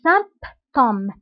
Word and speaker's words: symptômes: انتبهوا هنا بي كنطقوها كنقولوا les symptômes Donc les symptômes du coronavirus sont يعني اعراض